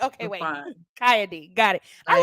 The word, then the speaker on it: XiyA D: ever calling you XiyA D forever. And I'm like, okay, You're wait, fine. XiyA D, got it.